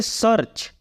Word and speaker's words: search: Next है SEARCH, यहां पे भी ई के बाद ए आर आ रहा है, इसलिए हम इसको बोलेंगे सर्च। सर्च मीन्स खोजना। सर्च मीन्स खोजना। तो हमारा स्पेलिंग रूल यही कह रहा है कि ई